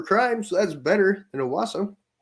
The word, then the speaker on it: Owasso: area Tulsa metro area I don't think it's awasa I think I said that completely wrong Owasso Owasso I think that's exactly how you say it okay so you